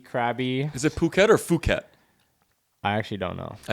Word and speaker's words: Phuket: Is it Phuket or Phuket? I actually don't know. I think it's Phuket. The way they pronounce their P's is weird because Phi Phi Island, when you're there, it's pronounced PP Island.